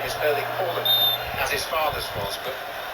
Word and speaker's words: Erling Haaland: view on these things, he was asked to pronounce his name for the World Cup authorities and he said, "My name is Erling Haaland," as his father's was.